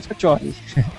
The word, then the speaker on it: Faccioli: A pronúncia italiana é Faccioli.